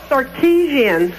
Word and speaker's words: Sarkisian: The pronunciation is what? Sarkisian.